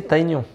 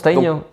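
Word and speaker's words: Tygnon: Faudrait le prononcer Taignon.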